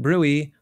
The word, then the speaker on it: bruit: Some people pronounce it brewy, but I like to pronounce it brute, because why make the T silent if you don't have to?